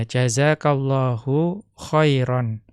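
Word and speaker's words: جزاك الله خيرا: Ya, maka ketika diwaqaf, kalau mengikuti dialeknya jumhur, kita bacanya jazakallahu khaira. Ya, bukan jazakallahu khair. Ya, akan tetapi nanti kalau mengikuti dialeknya Rabi'ah menjadi jazakallahu khair. Ya, diperbolehkan kalau mengikuti dialeknya kabilah Rabi'ah. Atau di sini contoh yang lebih mudah.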